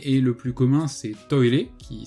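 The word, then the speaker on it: トイレ: Donc le premier et le plus commun c'est toire, qui s'écrit en katakana.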